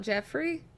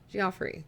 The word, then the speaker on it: Geoffrey: So it's not Jeffrey? Geoffrey. Yes, it's pronounced like Jeffrey.